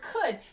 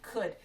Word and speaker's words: could: That's not a sight word yet, but it rhymes with would, and it's got the same ending part, so I know that word. It's on the third line, could. Spell it with me. C-O-U-L-D, could. With our wonky O-U.